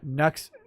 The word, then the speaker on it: Nux: with next taku uh nux pronounced like nut but with an x instead of a t like taku and and